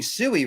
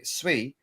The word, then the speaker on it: Sui: So pith or I don't know if I'm even saying it right because you think you're saying sooie right until you find out it's sui.